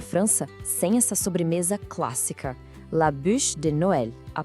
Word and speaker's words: la bûche de Noël: E claro, não existe ceia de Natal na França sem essa sobremesa clássica, la bûche de Noël. A pronúncia é la bûche de Noël.